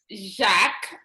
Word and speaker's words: Jacques: Jacques. The S is silent because it's French.